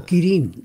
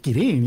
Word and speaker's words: Kirin: Yeah, Kirin. No, Kirin. They had Kirin, those two. Ah, so you pronounce it Kirin, yeah, the proper way.